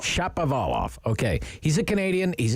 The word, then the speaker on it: Shapovalov: earlier this morning but how do you say his name steve it's dennis chapovala shop of olof okay he's a canadian